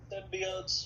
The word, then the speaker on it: symbiote: uh um Simba what are they called again symbiotes symbiotes thank you thank you am I did